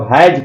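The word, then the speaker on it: hath: ही हैथ, तो हैथ है ना, तो हैज पढ़ेंगे। ओल्ड इंग्लिश में हैथ लिखा जाता था, प्रोनाउंसिएशन उसका या प्रोनाउंसिएशन हैज होता था।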